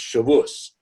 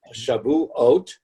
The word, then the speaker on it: Shavuot: this holiday, which most of us know as Shavuot. Oh. If you have a different pronunciation, it's Shavuos. But Shavuot, because the word Shavuot is actually a play on words.